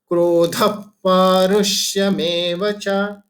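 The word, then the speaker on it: क्रोधः पारुष्यमेव च: दूसरा पार्ट, क्रोध पारुष्यमेव च, जो ध के बारे में, ध के बाद जो विसर्गम है और फिर प आ गया है, इसलिए हम इसका उच्चारण कैसे करेंगे, क्रोध पारुष्यमेव च।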